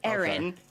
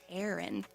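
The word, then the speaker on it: Ehrin: name uh-huh yeah so to me like aaron like e-h-r-i-n is how my fam i'm from boston so that's how my family would say it aaron so aaron but then here it's aaron does that sound different because some people will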